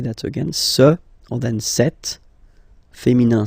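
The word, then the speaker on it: cet: again sir or then set feminine set so you can notice that phonetically these two are pronounced the same way okay set here and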